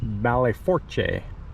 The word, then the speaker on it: Belle Fourche: We are here in Belle Fourche, South Dakota, which is the geographic center of the United States. According to this sign, the proper pronunciation is Belle Fourche in French, which means beautiful forks.